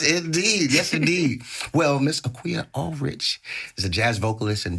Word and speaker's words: Akua Allrich: The amazing Akua Allrich.